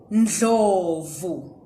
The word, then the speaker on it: Ndlovu: And the next one is Ndlovu.